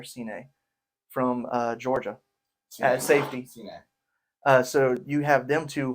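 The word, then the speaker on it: Cine: Is it pronounced Sine or Sine from Georgia at safety? Sine.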